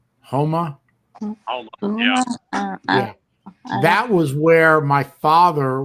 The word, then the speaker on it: Houma: near uh what was it uh how you pronounce it huma houma that was where my father was at one